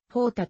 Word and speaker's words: jota: になったただしほたのスペイン語での発音は jota ではなく方たとなるなおイタリア語に